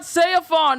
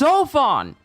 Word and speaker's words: Seofon: wrong the entire time it's not sefon it's sofon he so it's so fun